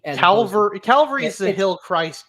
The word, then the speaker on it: Calvary: But let me make sure I get my pronunciation right. Calvary.